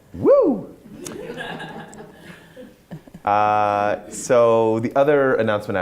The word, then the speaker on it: WEW: Right, and it's pronounced woo!